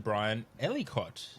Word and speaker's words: Ellicott: podcast and i would like to welcome mr brian ellicott did i pronounce that correctly hello that's right yep yes